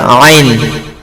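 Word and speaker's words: عين: এক আলিফ টেনে এবার আইন আইন হচ্ছে কন্ঠর মধ্যভার থেকে উচ্চারণ হবে আইন আর চেপে হবে উচ্চারণ একটু চেপে আর তিন আলিফট আইন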